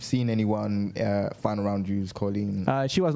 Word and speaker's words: Kolin: The next one that's being announced is, now I've been told to pronounce it Kolin. Kolin. It's written Kolin. With a K.